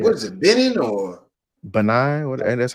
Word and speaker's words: Benin: And then I was talking to this one chick that's what's that country uh next to Nigeria, yeah, Benin.